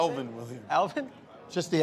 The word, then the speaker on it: Alvin: Alvin, okay. Yeah, It always sounds like you say Elvin. I think he does. Say what? What do you think I said? Elvin Williams. Alvin?